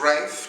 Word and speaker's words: Rafe: That's right, you did hear correctly, it is pronounced Rafe, changed from Rolf, the traditional Austrian.